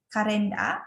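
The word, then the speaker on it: カレンダー: Nah, kalenda danya ini harusnya double. Jadi kalenda a. Harusnya ini saya kurang satu vokal saja yang kurang di sini, jadi kalenda itu double a ya di sini di akhir, a-nya harusnya 2.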